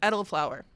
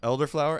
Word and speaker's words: elderflower: I always like um any drink with edible flour. Okay. Is that how you say it? Uh elderflower.